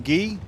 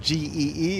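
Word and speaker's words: Gee: gets mad when I call him ghee it's spelled g-e-e it took me seven years to figure out it's just G Aaron G Wichita Falls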